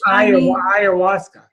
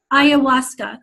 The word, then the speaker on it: ayahuasca: Mother, Scott, how do you pronounce that word again? Will Mother A know that you have brain damage? Ayahuasca. Ayahuasca, thank you.